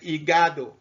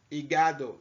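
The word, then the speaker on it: hígado: this is liver and igado igado the h is mute okay the h is there but it's mute so in spanish you don't pronounce the h okay and there is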